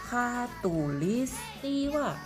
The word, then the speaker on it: khatulistiwa: Namanya Bunda akan kenalkan, garis khatulistiwa. Wah, agak panjang dan agak susah ini bacanya ya, karena bukan K tapi H, K-H-A, khatulistiwa. Kita tuliskan dulu yuk.